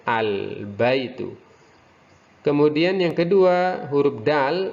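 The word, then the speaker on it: البيت: Baik, yang pertama al-baitu, ba tergolong dalam huruf komariah, jadi alif lamnya harus terbaca al-baitu.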